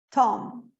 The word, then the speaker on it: tomb: E aqui a gente vai cuidar a pronúncia, porque o B, depois do M, não é pronunciado. Então, esquece que tem esse B aqui, eu vou pronunciar só até o M. Tomb.